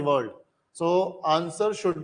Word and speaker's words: Tso: तो हमें क्या करना है, सोकर वेटलैंड की लोकेशन को आइडेंटिफाई करना है। तो अब हम क्या कर सकते हैं, जैसे तिब्बत में लेक को बोलते हैं सो, TSO, टी साइलेंट है।